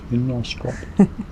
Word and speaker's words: Knostrop: So this is, okay, how do you say that word? Nostrop? Nostrop? Fall Lock? Knostrop? Nostrop. That'd be Nostrop. Fall Lock.